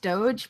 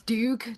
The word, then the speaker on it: Doge: makes me feel weird I know it's pronounced Doge but it's Duke to me cuz I just see